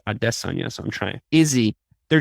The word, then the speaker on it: Adesanya: probably gonna fight desna I'm trying harder to pronounce his name right they kind of drilled AIA into my head but he keeps saying like it's adess Ona so I'm trying Izzy